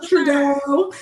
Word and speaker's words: Trudeau: Trudeau. Yeah, his Fine Behind. It don't matter. I just call him Fine Behind Prime Minister of Canada. Yes. But whatever. We can call him Trudeau.